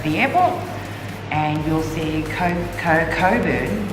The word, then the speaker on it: Cockburn: So Coburn is a suburb halfway from Mandurah to the airport, and you'll see Coburn, which is actually spelled Cockburn, but pronounced Coburn, and take that turn off and find Haruki.